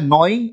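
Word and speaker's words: gnawing: को kutarti रहती है नाव आई एन जी तो इसमें जी साइलेंट रहती है और इसको बोलते हैं निंग ऑन थिंग्स यानी की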